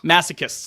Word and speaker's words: masochists: Masochists? Masochists. Thank you. I never know how to pronounce that word.